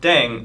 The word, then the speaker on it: Ddaeng: playing with language now pronunciation of deng is similar to thang which is the slang of thing in english last but not least